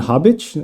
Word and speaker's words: Habic: r for robin today my guest is bogdan hobbitch am i pronouncing your name correctly that's a completely correct